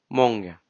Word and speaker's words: många: There we'll use monga, which is monga, but we'll say it monga.